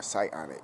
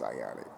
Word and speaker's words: psionic: See, um I am what you would call s whatsic or psyionic I think or psionic. Psionic. My bad. It's psyionic. Excuse me. I got the words uh I pronounced it wrong. is psionic.